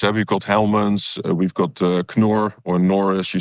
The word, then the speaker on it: Knorr: I didn't know that you pronounced it Knorr. Knorr. Because here we also pronounce it Knorr. The quiet K. It's a quiet K. It's a silent K.